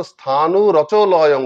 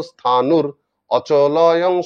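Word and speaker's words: স্থানুরচলয়ং: এরকম ভাগ হয় না উচ্চারণটা হচ্ছে স্থানুর ওখানে রয় হসন্ত আসবে আর তারপর ওই র থেকে অকে আলাদা করে দেব সেজন্য হয়ে যাবে স্থানু রচ যেটা উচ্চারণ হচ্ছিল হবে স্থানুর আর অটা চ এর সঙ্গে লেগে যাবে তাহলে উচ্চারণ হবে নিত্য সর্বগত স্থানুর অচলয়ং সনাতন এই যে মাঝখানে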